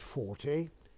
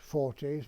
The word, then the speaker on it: Forte: acquired by charles 40 for the construction of an ice cream parlor so that's what it's all about of course we didn't pronounce it 40 we pronounced it fort and that was it